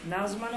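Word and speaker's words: نظم: জদের উপর আপনি সাকিন দিবেন, মিমের উপরে সাকিন দিবেন, নাজ। এইটা দেখেন, এইটা NAZM, এটা তো নাজম বলতে পারবেন না, তাই না?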